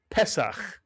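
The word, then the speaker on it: פסח: The sele under the first letter means we accent the first syllable. Pesak. Mitsuyan.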